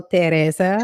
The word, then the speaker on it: Therese: However, for those of you who can't pronounce it, I always say use the last name Perez in Spanish instead of P. Replace it with the T, and you got Therese.